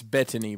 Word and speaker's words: Bettany: with vision with vision it's bedtime what it's Bettany by the way is how you say his